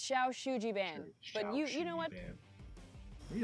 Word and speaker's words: Shou Sugi Ban: But anyway, Shou Sugi Ban.